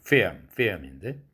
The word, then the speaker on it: film: 정확하게 발음하면 film인데 LM을 관찰해 보세요. 똑같은 4도짜리죠. 그러므로 L 측음이나 비음이 똑같은 4도이기 때문에 이때의 사운드는 성절자음 구실을 못하죠.